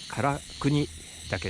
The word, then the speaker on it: 韓国岳: 今日はこれから唐国だけに登っていきたいと思います韓国だけと書いてから国だけと読みます駐車場から 100m